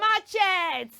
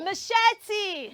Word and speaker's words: machete: Say Never Say Never say machet machet you should say you should say machete Mach okay so the